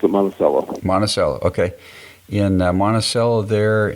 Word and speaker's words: Monticello: Crossroads Church in monello is it monacello or monachello no we we pronounce it monacello monacello okay and monacella there and uh you